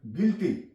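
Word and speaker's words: guilty: गया है you silent गिल्टी कसूर जी यू आई एल टी यहां प यू के बाद आई आ गया है तो यहां पे you silent tongue tongue T ओ एन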